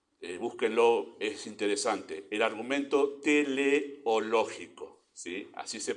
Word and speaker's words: teleológico: esta palabra pero búsquenlo es interesante el argumento teleológico Sí así se pronuncia científicamente ese argumento es más fácil lo